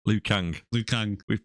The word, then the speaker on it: Liu Kang: best character my best character got to be L Chang you say his name Liu Kang Liu Kang we've butchered the names again this week every single